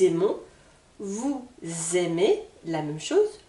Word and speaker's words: aimons: le N nous aimons je vous rappelle le S avec les voyelles se prononcent nous aimons vous aimez la même